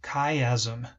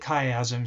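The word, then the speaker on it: chiasm: crosses right here that's actually called the optic kaym that's how you pronounce this right here the optic kaym so that is where um our field of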